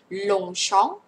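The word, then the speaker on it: Longchamp: ลง ชอง ปารี อื ลง ชอง ไม่ เอา ไม่ มี มอ ม้า ไม่ มี ม ม้า ใน นี้ ไม่ มี มอ ม้า ใน นี้ นะ คะ ลง แล้ว ก็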